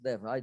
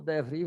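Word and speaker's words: DeVry: Eu acho que a pronúncia é essa, DEVRAI, né? Mas se for DEVRI, vocês me perdoem.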